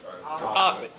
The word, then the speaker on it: Offutt: I'm not sure how you pronounce Offutt. It sounds like Offutt. Anyway, is that right? Offutt? Offutt. Offutt, sorry. Offutt Air Force Base in Nebraska for the National Command Authority.